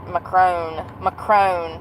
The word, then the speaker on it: Macron: Bridget Macron. That's how it's pronounced.